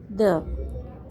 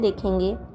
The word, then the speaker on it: the: Today we are learning about द। सबसे पहले तो हम इसकी प्रोनाउंसिएशन देखेंगे। द जब कंसोनेंट से पहले आए तो उसे द पढ़ा जाएगा।